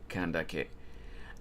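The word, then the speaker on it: Candace: With Candice pronounces... Oh, wait. With Candice is pronounced Kandake.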